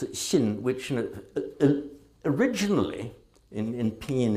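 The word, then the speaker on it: 心: As you get further east, it's called, it's in Chinese, the Xin. Did I get that right, Orca? Thank you, thank you. It's Xin, which originally in Pinyin it's transliterated like this. Xin.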